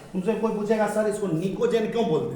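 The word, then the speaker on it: pnictogen: एक को कते देखो पी को नहीं पढ़ना है प साइलेंट है समझा इससे पहले भी एक बार लिखाया हु ग्रुप 15 को निकोजन बोलते हैं क्या बोलते हैं या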